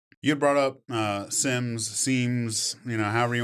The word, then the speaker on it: CMMC: Um I'd like to point out the correct way to say it is sim. So sim.